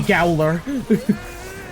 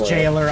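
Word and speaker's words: gaoler: guy he is the gowler the record I know it is pronounced jiler I just like being silly it doesn't help that's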